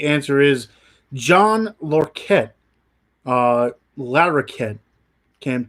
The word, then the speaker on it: Larroquette: the answer the answer is John lor ket Larroquette can't pronounce it Larr o qu ET te but